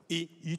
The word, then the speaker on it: Y: Y. Y. Et ça 14 habitants. Ça se prononce comment? I tout court. I.